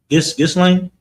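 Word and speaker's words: Ghislaine: a group of survivors uh of uh abused by Epstein and uh Gizlane. Yeah, that's how you pronounce the name.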